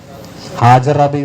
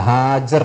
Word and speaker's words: ഹാജർ: എന്ത് ബീവി എന്ന് പറയാ ഹാജറാബി എന്നാ പറയുക ഹാജറ എന്നല്ല ഹാജർ എന്നാണ് അത് മനസ്സിലാക്കി വെച്ചോളൂ അതായത് ഹാജറ എന്ന് വായിക്കണമെങ്കിൽ